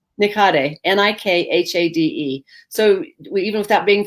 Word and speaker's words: Nikhade: and how do you say your last name nikate n-i-k-h-a-d-e so even without being friends you can